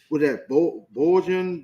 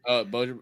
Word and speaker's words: Bojan: The Brooklyn Nets have agreed in principle to trade forward Mikal Bridges to the New York Knicks for Bojan Bogdanovic, if I'm saying it right. Bojan, yeah.